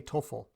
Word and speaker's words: TOEFL: pronounce it as TOEFL TOEFL is just two syllables so it's easy to say so you can take